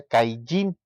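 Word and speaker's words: קַיִן: Este, Caín en hebreo se pronuncia Caillín, ¿sí?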